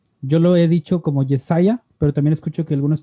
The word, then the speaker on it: Jesiah: Yo lo he dicho como Jesiah, pero también escucho que algunos te dicen Jesse. ¿Esa es la pronunciación correcta o cómo te gusta que te digan o cómo está este nombre? Se pronuncia Jesiah, pero todos mis amigos me dicen Jesse.